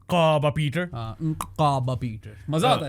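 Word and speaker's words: Nqaba Peter: मैंने मैंने पूछा था सीएस से सीएस शिवाजा my colleague and good areas कि किस तरह प्रोनाउंस करते हैं उसने बोला काबा पीटर काबा पीटर काबा पीटर मजा आता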